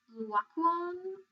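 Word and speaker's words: Laocoön: like there's this guy whose name is pronounced walk one I think but it reads like laocoon um it's felt like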